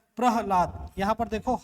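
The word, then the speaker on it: प्रह्लाद: तो ह यहां कम उच्चारण हो रहा है, सबसे ज्यादा उच्चारण क्या हो रहा है, ला और द, प्रहलाद, प्रहलाद।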